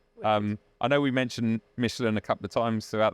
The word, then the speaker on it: Michelin: Michelin. Michelin. Yeah. Michelin. So, the reason we say it like that is cuz that's how you're meant to say it. It's a French word and a French company.